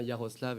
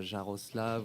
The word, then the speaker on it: Yaroslav: le côté esthétique, et on voulait s'assurer que tout le monde le prononce bien Yaroslav et non pas Jaroslav ou quoi en France.